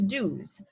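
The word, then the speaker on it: douze: 11 being ohms and then 12 is dues just like how two is d 12 is dues 13 is tres so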